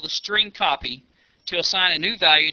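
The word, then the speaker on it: strcpy: of functions available to the program including the string copy function to demonstrate the the use of the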